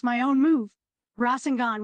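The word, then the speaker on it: Rasengan: pronounce my own move rosenon with a sharp raw sound no mispronunciation here no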